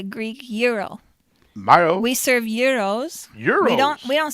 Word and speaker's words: gyros: there's another word that a lot of people mispronounce it's the greek euro mario we serve euros europe we don't we don't serve gyros or gyros it's a euro i thought that